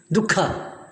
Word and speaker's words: dukkha: You see, the pronounce the word itself is dukkha.